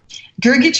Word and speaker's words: Grgich: spelled in Croatian uh the H was added to make it a little easier for Americans to pronounce no extra vowels because